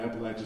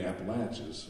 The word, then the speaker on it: Appalachia: there they'll tell you it's not appalachia like what we yankees would like to say they say no it's appalachia like i'm going to